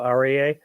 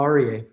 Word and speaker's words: Aryeh: I'm here with Paul arier and I'm sorry I'm I'm sure I'm mispronouncing your name do you want to go ahead and share it with us you said it perfectly Paul arier okay great so you